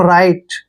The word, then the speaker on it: right: देखिए RI को हम राई पढ़ रहे हैं, क्या पढ़ रहे हैं? राई। और मैंने आपको बताया कि टी से पहले जब भी GH आता है तो GH को हमने साइलेंट रखना है, तो इसको पढ़ेंगे हम राइट।